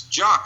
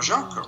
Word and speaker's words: Jock: thinking my French Canadian, is it Jacques? Maybe his name is, like Frère Jacques, right? Jacques. So, and I go, well, how do you spell it? And he says Jock, just as you would jock itch.